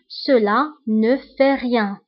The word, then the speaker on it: cela ne fait rien: هنا أيضا لا لتر تي ما نطقناهاش. Cela ne fait rien.